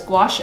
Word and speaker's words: gouache: Thomas says, gouache sounds delicious. Is that because it rhymes with squash?